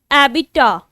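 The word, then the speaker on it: abattoir: एबिटा. एबिटा, ए रो और silent है.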